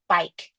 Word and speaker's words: bike: Silent E at the end of this word proves the previous vowel to be long. We mark it with the macron or the long vowel marking. The word is bike.